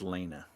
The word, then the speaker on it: Lena: I mean, it's like that one Billy Joel song, but it's not spelled the same way. But it's Lena.